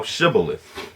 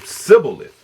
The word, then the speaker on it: Shibboleth: It says, "Then said they unto him, Say now Shibboleth. And he said Sibboleth, for he could not frame to pronounce it right.